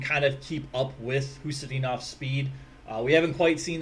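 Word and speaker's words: Khusnutdinov: See, I finally found out how to say his name, Hustadinov.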